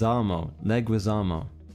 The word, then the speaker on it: Leguizamo: did what the heck is that how you pronounce it leg Wiz Leguizamo oh I see for yeah same with the